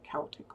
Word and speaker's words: Celtic: I have an actual Celtic one and by the way that is how you say it Celtic with a hard C they did not have a soft C sound so Celtic Tara